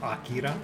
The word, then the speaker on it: Akira: And he was gonna do Akira, but he's like, It's pronounced Akira.